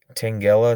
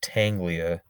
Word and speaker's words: Tangela: but i just for tank tangela it's not tanglia come on i don't